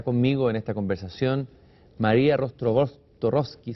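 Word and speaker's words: Rostworowski: Y para hablar de eso está conmigo en esta conversación María Rozborowski, siempre se me equivoca su apellido, voy a pronunciarlo de nuevo, es Rozborowski, un apellido polaco.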